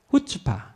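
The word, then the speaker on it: chutzpah: 이 7가지를 합쳐서 후츠파. 후츠파. 앞에 C가 묵음이에요.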